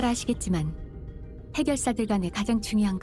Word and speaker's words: 해결사: 해결사야. Yeah, what Don Quixote said. How do you pronounce it? 해결사! Shagelsa?